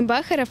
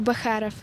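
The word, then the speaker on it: Бочаров: это братья при близкие оказывается правильно произносить не bocharov а bocharov я не знала что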